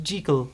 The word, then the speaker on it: Jekyll: It's pronounced Jekyll, my good sir.